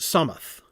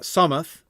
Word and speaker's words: Solmath: So we have After Yule for January, Solmath, which he has the letters are for notes, pronounced Somath. So we got Somath, which is the same in the Shire and Bree.